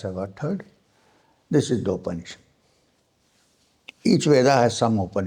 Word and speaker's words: Upanishad: This is the open issue. Each Veda has some open issues attached to it. Now the word open issue comes from three syllables. Upa ni and shad.